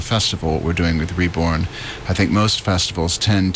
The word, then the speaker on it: re:bourne: The way that you would spell it is R-E, and then with a colon, B-O-U-R-N-E. So the bourne is obviously referring to Sittingbourne, but the with the colon is regarding.